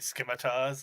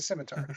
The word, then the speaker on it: scimitar: crazy Americans like your skars I don't know oh yeah no no no there there's no K in there it's a c it's a simitar all right crazy American